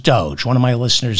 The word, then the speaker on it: DOGE: left the White House, it's pronounced Doge, not Doja, and it's pronounced the White House, not the White House.